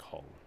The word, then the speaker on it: Hull: Yeah, but not spelled like Hall. Like Hull.